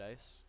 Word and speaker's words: ICE: oh there's some white ice it's spelled I see but in the game it's frequently referred to as ice there we go hey